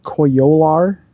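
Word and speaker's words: Coyolar: probably in a minute the koi yo lar I think you're saying that right because I've always been saying it wrong you're saying it right so it's it's gonna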